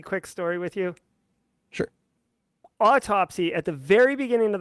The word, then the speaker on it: Autopsy: looking back on it as soon as someone said it's autopsy I'm like that makes sense a because it's a forensics tool B because like it's spelled autopsy not Auto spy and see like how